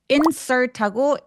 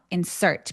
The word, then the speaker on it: insert: 자, insert는 강세가 명사하고 동사하고 달라져요. 예, 스펠링이 똑같을 때 하나는 명사고 하나는 동사일 때 이렇게 보여드릴게요. 자, 동사일 때는 이음절에 보통 강세가 오고요. 명사일 때는 이름절에 강세가 오는 단어가 많아요.